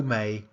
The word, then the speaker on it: mate: and he in fact he pronounced mate as yo may yo may may you yo may your meal in contemporary vernacular London the post vocalic tea in Mike is a bottle stop not an alveolar it looks as though